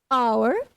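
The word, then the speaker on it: hour: आवर before H silent होता है।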